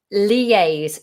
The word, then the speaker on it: liaise: Liaise, spelled Liaise. Liaise. Lee, like the name Lee.